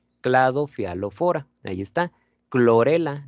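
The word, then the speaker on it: Chlorella: Clorela, no decimos chlorela, ¿no? Clorela, clorela tal cual.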